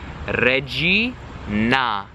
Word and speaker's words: regina: The I sounds like a letter E in Italian. Wait, the letter I in Italian sounds like the English E, okay? Regina. Na, that nice round, open, accentuated A, like ah, open your mouth, okay?